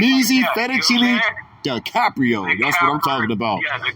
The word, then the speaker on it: DiCaprio: It's duh, not D. DiCaprio. DiCaprio.